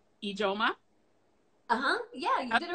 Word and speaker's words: Ijeoma: But Teri, and I want to say it right, Ijeoma?